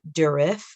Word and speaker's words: Durif: also see it called by the name of durif d-u-r-i-f that's after the um the name of